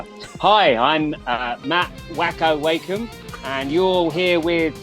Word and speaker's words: Mat Wakeham: Mat Wakeham, how are you doing, sir? I hope I pronounced the name right.